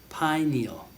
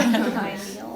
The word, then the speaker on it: pineal: Pineal. Like pine needle, but no D. Yeah. Pineal. Thank you. Yes. Pineal. The pineal gland. Okay. So melatonin is produced by the pineal gland.